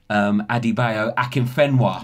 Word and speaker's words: Adebayo Akinfenwa: We have got the one and only Adebayo Akinfenwa.